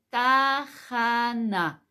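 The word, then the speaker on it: תחנה: la estación Cómo se dice estación se dice tajana te a j a n a J a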